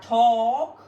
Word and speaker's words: talk: Este verbo va a convertir esta A en una pequeña O larga, talk, larga, una O larga, y esta L no se va a pronunciar.